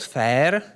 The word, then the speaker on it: FAIR: If you'd like to know more about FAIR, it really sounds like the word FAIR, but it's an acronym of these four.